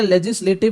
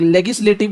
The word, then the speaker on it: legislative: पहले अपन डिस्कस करेंगे कि भैया लेजिस्लेटिव प्रोसेस इन इंडिया मतलब क्या होता है। कुछ लोग इसको लेजिस्लेटिव बोलते हैं, कई लोग लेगिस्लेटिव बोलते हैं।